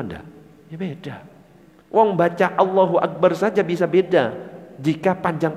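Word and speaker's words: الله أكبر: Sudah a-nya panjang sama pendek beda arti. Kalau a-nya pendek Allahu Akbar artinya Allah maha besar. Allahu Akbar artinya apakah Allah maha besar? Loh kok malah justru jadi pertanyaan.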